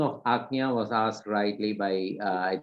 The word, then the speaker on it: Ajna: came as a print where the spelling of Ajna was asked rightly by I think Kavita ji. Ajna is A-J, A-J-G-N-A, Ajna, Ajna. Actually, A-G, Ajna, A-G, Ajna, A-G-N-A, Ajna.